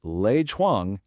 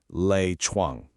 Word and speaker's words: 赖床: Well, if you guessed Lei Chuang, you totally nailed it. Let's take it slow and pronounce it together. Lei Chuang.